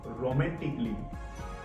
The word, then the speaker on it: romantically: Rule number 3 हमें कहता है लास्ट वर्ड, कोई भी स्पेलिंग का लास्ट वर्ड जब डबल LY दिया जाता है। Again I want to repeat, कोई भी स्पेलिंग का लास्ट वर्ड जब डबल LY दिया जाता है उससे पहले ए आता है, वो ए का प्रोनाउंसिएशन नहीं किया जाता है।